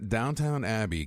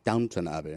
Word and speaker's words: Downton Abbey: They beat out The Crown, Downton Abbey, Game of Thrones. You said it wrong. Downton Abbey.